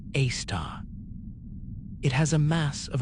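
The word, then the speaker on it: Sagittarius A*: The one at the heart of our galaxy is called Sagittarius, a asterisk, pronounced a star.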